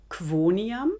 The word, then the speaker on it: quoniam: QU wird auf Deutsch Qu und auf Italienisch Qui ausgesprochen. Qui, Qui, Quoniam, Quoniam.